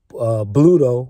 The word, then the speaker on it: Bluto: Bluto, which rhymes with Pluto, is the enemy.